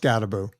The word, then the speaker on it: Skattebo: Yeah, it's pronounced Scatterboo. It might be two T's, Skattebo. Could be Boo. I'm not sure. Cam I mean, Scatterboo. it doesn't phonetically look like that, but that's okay.